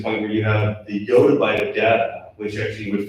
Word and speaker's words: yottabyte: And some people say, yottabyte, some people say yottabyte, I prefer to say yottabyte personally, because I think it's the best pronunciation of it.